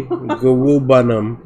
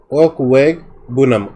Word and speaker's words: Okwegbunam: Okay, Gawubanum.